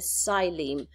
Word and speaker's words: xylem: That is called the xylem. You can see that in your book as well. Xylem, you spell it with an X, but you don't pronounce the X. You just say xylem.